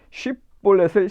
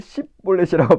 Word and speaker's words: 쉽볼렛: 에브라임 사람들이 쉽볼렛을 십볼렛이라고 발음해서 이거는 이제 이게 아무래도 지역이 다르니까는 그 이제 에브라임 사람들은 sh 발음을 못해서 쉽볼렛을 십볼렛으로 발음해요. 그러니까는 그걸로 발음해서 야, 너 길르앗 사람 아니지?